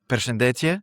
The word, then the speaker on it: përshëndetje: I should have actually started not by saying hello, but përshëndetje. Am I pronouncing it correctly? Yeah, yes, yeah, that's correct.